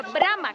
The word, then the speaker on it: Bromo: al volcán, porque curiosamente Bromo en idioma javanés se pronunciaría Brahma, como es el dios creador del hinduismo.